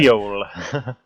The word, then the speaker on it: Seoul: And this is Highway to Seoul, as many people have been telling me to say it as, and I've been saying it wrong the whole tournament, but there we go. Seoul. Finally, I did it right, apparently.